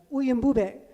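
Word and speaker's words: Uyimbube: Backup singers repeated the word Wimue, which turns out to be a mispronunciation of Uyumbube, which is Zulu for you are a lion.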